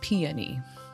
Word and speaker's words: peony: Uh, peony. That's probably the most common one. Ponyi, piney, pony, or penis. Google says the correct pronunciation is peony.